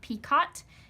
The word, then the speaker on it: picot: It is a French word, so we do not pronounce the T. It is not picot, it is picot.